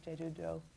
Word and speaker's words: Jeju-do: Not a Metaphor and The Diving Women of Jeju-do.